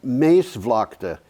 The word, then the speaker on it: Maasvlakte: Dutch is difficult to pronounce because some of the letters just don't sound. Well, like if it's two A's, it's pronounced A. Oh, is it really? Yeah, it's long A.